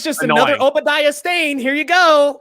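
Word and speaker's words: Obadiah Stane: bro yep i was i was pronouncing that name obadiah stone for the longest time and then somebody corrected me in the comments and i'm like good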